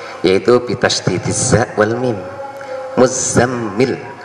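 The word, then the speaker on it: المزمل: Muzammil, za dan mimnya ditasdid. Ya ayyuhal muzammil. Nah, ini bacaan jumhur ulama ahlul qiraah ya. Beda lagi dengan Ubay bin Ka'ab dan juga Imam Abu Aliyah, itu membacanya tidak ya ayyuhal muzammil, tapi ya ayyuhal mutazammil. Itu dua ulama tersebut mengatakan tidak muzammil tapi mutazammil bidhari ta, dengan membunyikan tak yang sangat jelas, ya ayyuhal mutazammil alal asli.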